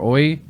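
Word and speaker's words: Oei: mess up his name it's spelled o e i peter oy uh wrote mushroom cultivation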